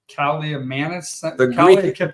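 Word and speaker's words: Kaliakmanis: Can we pronounce the quarterback's last name? Kaliamanis.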